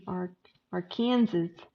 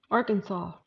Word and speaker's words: Arkansas: Yeah, Desi and I are going to meet in AR or Kansas. That used to irk me when people used to say it like that. Arkansas.